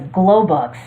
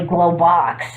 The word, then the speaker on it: Globox: When my brother and I were younger, we used to pronounce his name as Globux until we realized that his name is actually Globox.